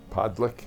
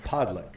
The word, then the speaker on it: Podlich: Podick. Podick.